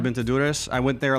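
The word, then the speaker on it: Durrës: but I've been to I always mispronounce this durus duras duras I've been to duras I went there like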